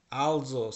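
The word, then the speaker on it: also: বাস নয় আহ আলসোস আলজোস স্নেল এটার উচ্চারণ কিন্তু অলসো না কিন্তু এটার উচ্চারণ হচ্ছে আলজো আলজো স্নেল স্নেল মানে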